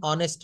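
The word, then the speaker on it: honest: যেমন হি ইজ এান অনেস্ট ম্যান। হি ইজ এান অনেস্ট ম্যান।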